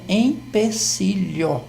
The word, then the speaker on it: empecilho: séria então a alma normalmente as pessoas elas é pronuncia pronunciam esse é como se fosse mesmo mas a palavra certa é empecilho isso ocorre também com